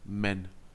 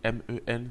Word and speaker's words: 们: Ici, nous avons un suffixe, le suffixe men. Ça s'écrit M-E-N, ça se lit men. Men. Il n'y a pas de ton dessus.